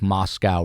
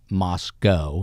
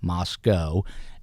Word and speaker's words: Moscow: the University of Idaho is it looks like Moscow Rush Hour Russia but it's pronounced Moscow and they get offended if you say Moscow so make sure you're saying Moscow and there's another College eight miles away which